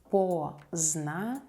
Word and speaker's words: поздно: Поздний. Поздний, adjective. Поздно, поздно, adverb. Late. We don't pronounce the letter D here.